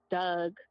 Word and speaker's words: dog: My usage of the word Doug, that's how we pronounce it. In Baltimore, we have, yeah, we say Doug, or just certain things.